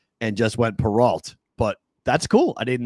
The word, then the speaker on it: Perrault: There was a champion racehorse named Perrault. Did not know that. My name should be. If we're actually pronouncing my name properly, that's how my family name is supposed to be said. But we Americanized it when we came from French Canada because we weren't